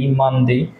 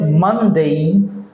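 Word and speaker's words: Monday: এজন্য আমরা প্রথমে ডেই আমরা সাধারণত ডে বলে থাকি সানডে মানডে আমরা এখন দেখে ডে বলবো না আমরা বলব ডেই ডেই ডেই কেন বলব দেই দেখেন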